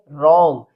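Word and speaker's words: wrong: Next है डब्ल्यू आर ओ एन जी। इसको read करेंगे रॉन्ग यानी डब्ल्यू साइलेंट है।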